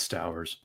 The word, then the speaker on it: Stowers: It's Stowers.